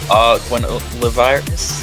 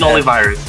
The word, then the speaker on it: Arvin Olivares: Okay, so for the Philippines, we have Argwin Olivares. Is that how you say it? Arvin Olivares, yes. Nikana, Sunny Sunny, Dadots, BLV Igari.